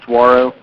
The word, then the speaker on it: Saguaro: Did you hear anything about Saguaro? I noticed there's a note in Mike's note about it. It's for Sunday. Yeah. How do you say it? Saguaro. Saguaro? Like the campus? Yeah, exactly.